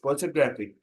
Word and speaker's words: photographic: In paragraph, photograph, noun. Stress is on the first syllable. Adding "ik" makes it photographic. Photographic. Shifting stress to the third syllable.